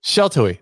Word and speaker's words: Sheltowee: How do you pronounce it? You got it. Sheltoe? Sheltoe.